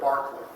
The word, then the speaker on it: Berkeley: uh John Lo uh Bishop Barkley and David Hugh um the city in California in the US is pronounced Berkeley but the name of this philosopher is Barkley a lot of English